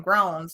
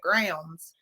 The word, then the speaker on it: Grounds: So, what was previously Our Way Out is now, we've been saying groans until I heard you saying anything. I didn't know how to pronounce it. I said, and I heard you say grounds. Just like Browns.